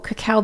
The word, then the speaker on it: cacao: With dark chocolate, though, cacao beans are heavily sprayed. Sorry, that's how you pronounce it.